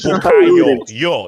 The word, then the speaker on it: Bukayo: And his name is Bukayo. You pronounce it as yo.